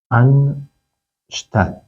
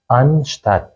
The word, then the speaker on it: anstatt: میخوام آموزش بدم کلمه ان شت حالا از نظر تلفظی چیزی هم که درسته که تلفظ بشه ان شت ان شت این تلفظ این کلمه